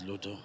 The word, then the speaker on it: Luto: who looked after Visionofpeace, Lebu, I think is the name. I got the name Lebu. Just correct me if I got the name wrong. My name is Luto. Luto.